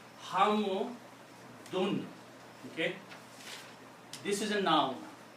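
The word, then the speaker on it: حمد: So those are the 3 sounds: dan, din, and dun. So this word now is pronounced as hamu dun.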